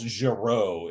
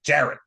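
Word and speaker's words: Jarrott: stuff than that yeah so it's not like Charles Giroux it's like Jared yeah Jared is probably the uh correct pronunciation so um this individual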